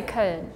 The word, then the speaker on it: Köln: We say Köln with the O and two because it's the O with the two dots.